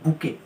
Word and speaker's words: bouquet: আবার ফ্লাওয়ার্সে আরেকটা collective noun হয়, সেটা হচ্ছে বুকে। বুকে বানানটা দেখে নেবে একটু, BOUQUET।